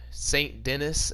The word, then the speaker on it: Saint Denis: little bit outside of Psalm Denis or Saint Denis as you would pronounce it now but and everybody else